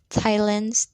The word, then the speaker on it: Thailand: Note, th is usually pronounced th or d, but sometimes t. Thailand, Thames, Thomas.